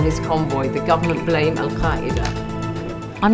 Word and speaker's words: Al-Qaeda: And you can see that you have the authentic pronunciation for Al-Qaeda, because of course my family speak Arabic. Al-Qaeda, it's not easy to say even in Arabic.